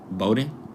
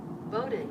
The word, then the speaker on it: Bowdoin: Bowden. Boden.